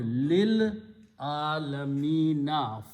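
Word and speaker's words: للعالمين: And pronunciation, meme is pronounced as a kasra, so it becomes alamina. Then you read with this lil, there was sukun here, you pronounce lil alamina, for the worlds.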